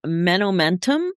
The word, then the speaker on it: Menomentum: So the name of this is Menomentum. Is that how you pronounce it?